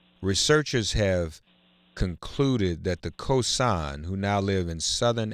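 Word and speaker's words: Khoisan: ladies and gentlemen researchers have concluded that the cosine who now live in southern am i pronouncing that correctly elizabeth oh yes my son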